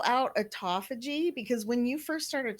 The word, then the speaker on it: autophagy: they'd know how to look it up sure it's spelled a-u-t-o-p-h-a-g-y autophagy i said it afterwards you are a